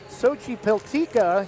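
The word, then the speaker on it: Xochipiltecatl: with his brother Hunter we are pretty sure it's pronounced Sochi peltica he's Brian is listed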